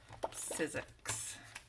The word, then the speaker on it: Sizzix: Is it Sizzix? Okay, yeah, that's what it is. Sizzix.